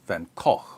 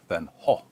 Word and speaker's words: Van Gogh: defense of the sanity of Dutch painter Vincent van Gogh or van Koch or van ho or Van Gogh depending on where you're from